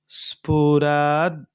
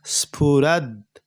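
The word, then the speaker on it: स्फुरद्: स्फुरद दिगंत, यहाँ आधा द और पूरा द और मात्रा है। पहले आधा वाला द स्फुरद, हल्का सा उच्चारण।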